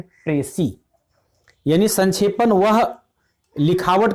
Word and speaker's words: précis: और इसका प्रोनाउंसिएशन जो है वह लिखाता है प्रेसिस, लेकिन प्रोनाउंसिएशन होता है प्रेसी।